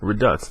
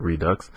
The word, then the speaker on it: Redux: Uh, for this episode of Redux, I realized I was pronouncing it wrong. It's Redux, not Redux.